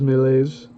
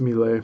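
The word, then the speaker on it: Méliès: The colonel thus a augmented his income by purchasing prints of European films by georges melees and others making duplicate copies. Uh that might be pronounced mle.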